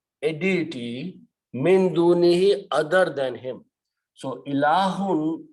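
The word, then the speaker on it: مِن دُونِهِ: First thing that will happen is that because this dunihi has to be stretched a little bit, but there is a hamza and this hamza will force to stretch it longer. So you'll have to pronounce min dunihi, and then this word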